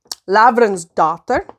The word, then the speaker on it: Lavransdatter: Lavransdatter. The reason I say it like that is because it's Norwegian.